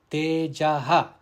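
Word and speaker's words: तेजः: Now in the first pada, that is tejaha, the visarga, it is followed by the letter ksha, kshama. Therefore the visarga must be pronounced.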